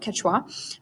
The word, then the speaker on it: Quechua: which is right here so that's how you pronounce that word Quechua that is the Inca language that is still